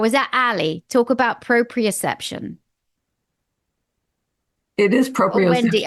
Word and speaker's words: proprioception: Now, what about proprioception? I never know how to pronounce that, Wendy. Proprioception. Oh, is that Ali? Talk about proprioception.